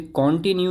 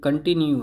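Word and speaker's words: continue: कंटिन्यू, फिर से देखिए ये कॉन्टिन्यू नहीं है, ये कंटिन्यू है। काफ़ी लोग इसे कॉन्टिन्यू पढ़ते हैं, ये कंटिन्यू होता है। सही प्रोनाउंसिएशन ये है, कंटिन्यू।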